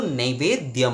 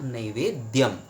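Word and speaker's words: नैवेद्यम्: ये विषय जो है दोस्तों आप ख्याल रखिएगा, कभी भी नैवेद्य नहीं होता है। नैवेद्य यानी कि विसर्ग, शायद आप लोग सोच रहे हैं, नहीं, विसर्ग आदि कुछ नहीं होता है, नैवेद्यम म हलंत होता है।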